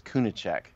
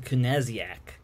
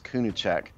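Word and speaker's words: Kunaszyk: we i've decided that jordan's name is kunichik i think is how you pronounce it and then jared norris so i would pronounce it kennesiak no that's not it no i think i'm pretty sure it's kunuchek all right yeah so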